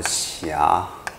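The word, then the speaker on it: ཤ: 哦，那这个读作霞，好，念一下霞，彩霞那个霞哈，晚霞的那个霞，一样哈。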